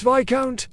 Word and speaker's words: viscount: Marquis is not marquess, and viscount is not viscount. It's viscount, which sounds like a minor vampire.